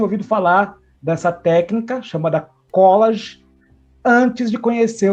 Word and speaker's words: collage: na decoração, na arquitetura, a pronúncia correta seria collage, né?